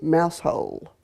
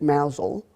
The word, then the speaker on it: Mousehole: knew a woman in a little village called mouse hole although the English pronounced it Mazel and she her name